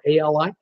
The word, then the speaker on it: Ali: of that storm Allie I wanted to say Allie like Muhammad Ali cuz it's spelled a li I had a viewer from the UK say no no it's not Ali like Muhammad Ali it's Ali like the back alley it's out that's like